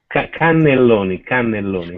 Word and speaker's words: cannelloni: How do you spell it? Is it Catalonia? Cannelloni. Ah, okay, cannelloni. Canoli.